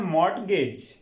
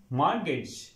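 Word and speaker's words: mortgage: थम next word है मट गज देखा जाए तो मट गेज ऐसे ही पढ़ना चाहिए लेकिन स्टूडेंट्स य वर्ड हो होता मॉर्गेज मॉर्गेज मॉर्गेज यहां पर टी साइलेंट होगा मॉर्गेज मॉर्गेज मॉर्गेज का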